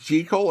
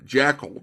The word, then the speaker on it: Jekyll: Correct pronunciation of Jekyll is with the long E.